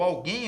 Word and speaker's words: alguém: Não, pessoal, alguém, ó, observe, a sílaba tônica é a última. Se a sílaba tônica é a última, a palavra é oxítona.